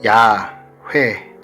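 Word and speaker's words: יהוה: 오른쪽에서 왼쪽으로 있습니다 근데 원래 이제 히브리 10 으로 이제 발음을 하면 야외 같은 거에요 네 저희가 왜 여호와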